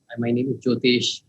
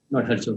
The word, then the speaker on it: ज्योतेष: आप मेरे नाम का गलत उच्चारण कर रहे हैं। मेरा नाम ज्योतेष है, गौरव सर। हरज्योत नहीं।